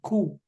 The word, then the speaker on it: coup: to Stage fourth grade actually here the p is silent coup it is always pronounced